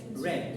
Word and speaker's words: read: of code commands great the pronunciation will be what questions red not red white red white red because it's the past tense okay we cannot pronounce